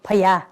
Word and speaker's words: Paya: Nowadays they directly call interpreted to Paya, where Burmese called Paya. Before this, the British and the English pronunciation they call pagoda, but nowadays they just directly call Chaitio Paya.